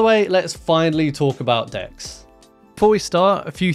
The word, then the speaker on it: deque: features with decks so decks um are short and yes they are pronounced like that short for double-ended Q what that means is